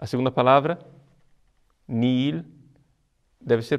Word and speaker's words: nihil: deve ser pronunciar Cristo é a segunda palavra nir deve ser pronunciada como seu h não existisse é assim